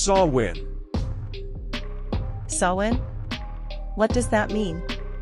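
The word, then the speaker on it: Samhain: It came from an ancient Celtic festival called Sawin, pronounced sawin.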